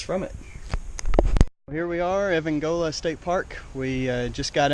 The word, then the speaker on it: Evangola: And so we're headed to Evangola is how they say it up here.